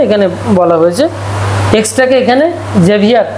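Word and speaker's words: Xavier: এক্সটাকে এখানে জেভিয়ার উচ্চারণ, যে উচ্চারণ করে, যে যে, ঠিক আছে।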